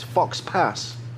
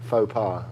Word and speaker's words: faux pas: up fo PI's is it's it's Fox Pass Fox Pass Sox passes out it's pronounced I likes you say any well yeah Fox pass like guy Fox guy thought no this is its faux faux pas and it's yeah I